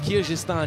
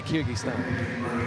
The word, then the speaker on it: Kyrgyzstan: So, so a Y, it's Kyrgyzstan in France. But if I were in America, I would say Kyrgyzstan because of how we pronounce the G in English.